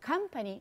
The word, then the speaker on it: company: Então, por exemplo, a bolinha maior em company mostra que a primeira sílaba é a sílaba tônica, é a que você tem que intensificar, company.